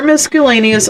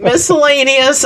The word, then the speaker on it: miscellaneous: door miscellaneus use door miscellaneus only all right miscellaneous I'm sorry I yes I pronounced the C I gave it a hard C I've already gotten crud